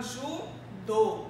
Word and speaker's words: judô: Temos também a palavra judô. Judô. Eu percebo o quê? Que a minha sílaba tônica tem um som fechado.